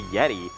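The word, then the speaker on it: Yetee: Remember, Yeti is spelled Y-E-T-E-E.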